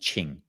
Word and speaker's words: qing: daoism it's in chinese it's called ching uh so in romani in pinyin romanization you'd spell that q-i-n-g and so this idea